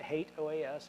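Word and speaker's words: HATEOAS: engine of application state I know some of you may pronounce that differently you're pronouncing it wrong I'll just tell you that now as someone who's worked with the product in the past called OAS I can tell you that hate OAS is the right pronunciation the Hal browser which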